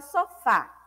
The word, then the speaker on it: sofá: Qual foi a sílaba que eu falei com maior intensidade? Foi o fá, né? E o fá é a última sílaba da palavra.